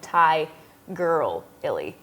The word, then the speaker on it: Tigirlily: under at Tiger Lily but Tiger Lily is spelled with all eyes so like Thai girl Illy yeah that's smart and